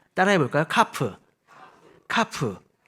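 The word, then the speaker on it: כף: 읽어볼까요 요드요 요드 요드네 11 번째는 카프 있니다 카프 따라해 볼까요 카프 카프 카프 예 요거는 이제 우리가 이제 손바닥이 있는데이 손바닥을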